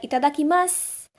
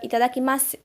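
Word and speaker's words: いただきます: They tend to pronounce this U, but it's absolutely personal choice, to be honest.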